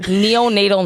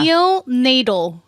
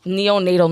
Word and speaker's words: neonatal: don't mind slowly how do you say it neonatal nurse neonatal yeah Neil Nadal neonatal nurse yes interesting that was what I wanted